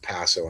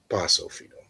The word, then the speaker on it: Paso: And I just want to It's pacophino. Po. Um, ask any Colombian or or Puerto Rican. It's poso, right? It's got a short short a, not a long a sound.